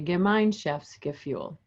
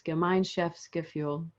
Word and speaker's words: Gemeinschaftsgefühl: The word is German, and it means Gemeinschaftsgefühl, or it's pronounced, I should say, Gemeinschaftsgefühl.